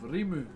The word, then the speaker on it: rimu: So the last piece we worked with was made out of rimu. R-I-M-U is how you spell it.